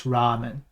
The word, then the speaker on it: ramen: long noodles right so in English we say Ramen because if you said raen it would sound like you your brain just froze and you just kept saying the same thing too long but in Japanese it's Ramen and I just made